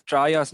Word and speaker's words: triage: No, it is triage. I think it is TRIGE. Oh, triage. Oh, I see. Okay, triage. okay.